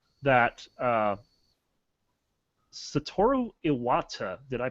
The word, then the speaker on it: Satoru Iwata: It looks like that Satoru Iwata, did I pronounce that right?